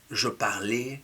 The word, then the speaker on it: je parlais: school or at university, be mindful of the pronunciation of the first one, je. It ends in ai, but it does make the sound e. Je parlais, we saw 3 examples, I tried to insist on them.